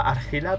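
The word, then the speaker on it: Argilla: Es que creo que escuché que lo pronunciaba Argila, pero me suena como muy raro. De hecho, es Argila.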